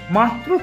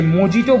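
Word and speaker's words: mojito: দিল হাবড়া স্টেশনের দু নম্বর প্লাটফর্মের উপর নাকি মাত্র 40 টাকায় মাটির ভারে লস বিক্রি হচ্ছে পাশাপাশি আবার নাকি মাত্র 30 টাকায় মকটেল বিক্রি হচ্ছে এই ফাঁকে আপনাদের কিছু বলে রাখি অনেকেই মকটেল কে মজিটো বলে থাকেন যেটার প্রোনাউন্সিয়েশন কিন্তু একদমই ভুল কারণ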